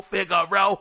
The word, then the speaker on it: Figaro: ] row the figaro think that's how you pronounce it f-i-g-a-r-o figure row yeah that sounds fancy uh xbox game studio